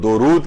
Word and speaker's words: درود: تو اصل جو اس کو تلفظ کیا جائے گا وہ درود کیا جائے گا، دال کے اوپر پیش ہے، دال کے اوپر زبر نہیں ہے.